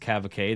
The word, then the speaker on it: Cavaque: I had one called Radler My Brain, and it was from Cavaque, which looks like Cavac, but apparently it's pronounced Cavaque.